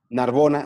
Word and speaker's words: Narbona: Narbona, así tal cual se escribe. Pronuncia. Con B, ¿verdad? Narbona, con B de bueno.